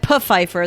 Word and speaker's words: Pfeiffer: he goes no it's puffer the p is not silent oh my god so good oh so good if you reach pfeiffer say hi to michelle